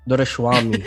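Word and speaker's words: Doraiswami: mean, to simplify the pronunciation, you take three syllables. Door, as in door, rice, as in food Yeah. rice, and whammy.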